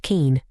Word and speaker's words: kin: Day kin pronounced keen.